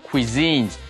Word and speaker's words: cuisines: favorite cuisines。所以呢，中国菜已经成为我最喜欢的佳肴之一了。所以如果是中国式的、中式的佳肴美味，就可以用 Chinese cuisines。如果是法式的佳肴餐点，就可以叫做 French cuisines，或者呢 Italian cuisines，意大利式的佳肴，所以要称为是 cuisines，还真的是要有特殊的烹调的风味才能够叫 cuisines。后面我们来练习一个句型，他说 I want to learn